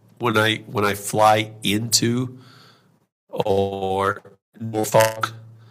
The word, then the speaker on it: Norfolk: Like when I fly into or Norfolk, right, that you just know that person has never been there before, right? Because Norfolk is not phonetically sounded out, right?